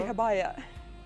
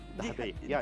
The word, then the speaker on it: Dahabiya: Dahabiya. Dahabiya. Yeah. That's actually all the boat on the Nile River, we call it Dahabiya.